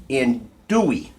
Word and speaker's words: andouille: What we're going to start with today, right here, Johnsonville, New Orleans, andouille recipe smoked sausage. I don't think you pronounce the L's. I don't think it's andouille, I think it's andouille.